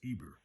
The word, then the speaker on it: Heber: the hebrews are called after heber pronounced ibr their great father from